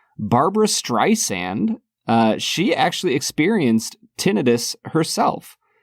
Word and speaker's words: Streisand: the kid about how it's pronounced Streisand and not Streisand.